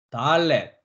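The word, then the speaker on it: דלת: 기역 발음이었습니다. 그 다음엔 달렛.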